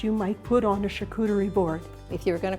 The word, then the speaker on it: charcuterie: Randee is going to tell us about something called a charcuterie board. Am I pronouncing that right? You are. It's a French word.